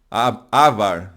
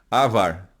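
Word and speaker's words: עבר: Avar, né, na verdade, porque o A primeiro é mais longo que o A segundo. Avar.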